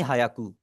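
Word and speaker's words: ひゃく: और इसको हम प्रोनाउंस करेंगे हियाकू। हियाकू। ठीक है? तो आप मोस्टली मैं कहूंगा मोस्टली जो लोग होते हैं वो इसे गलत प्रोनाउंस करेंगे। वो इसे बोलेंगे हायाकू हायाकू याकू।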